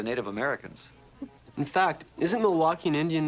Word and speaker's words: Milwaukee: In fact, isn't Milwaukee an Indian name? Yes, Pete, it is. Actually, it's pronounced Miliwake, which is Algonquin for the good land.